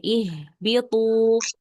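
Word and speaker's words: اهبطوا: Iya ihbitu ya. Hamzah wasalah dibaca kasrah karena kita masih bisa lihat huruf ketiganya. Nah, huruf ketiganya yaitu huruf ketiganya yaitu ba. Huruf ba berharakat kasrah. Maka hamzah wasanah dibaca kasrah ya.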